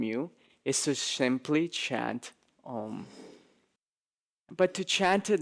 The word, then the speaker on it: Om: A lot of times people will pronounce Om, Aum, right? A-U-M. But when you take these three syllables and you put them together, the rules of Sanskrit dictate that when you pronounce it, it turns into Om. So even though it can be spelled A-U-M, the way that it is pronounced should be Om.